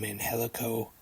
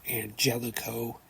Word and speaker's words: Angelico: they've been calling them Angelico I just thought they were pronouncing it wrong but Tony Shani actually explained on commentary tonight that he actually prefers that it's anelo so I know now